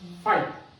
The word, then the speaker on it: phi: ফাই দ্বারা denote করি, এটাকে বলে ফাই, জেনারেলি PHI, তো তোমরা কইতে পারো FAI, উচ্চারণে লেখা ফাই, ঠিক আছে, PHI লেখা হয় ফাই।